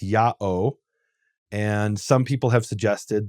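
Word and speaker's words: ΙΑΩ: name is written Yota Alpha Omega, which is pronounced Ya'o.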